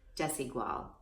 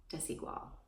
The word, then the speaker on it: Desigual: associate there, and I said, could you please pronounce this for me? And she said, Desigual. Desigual.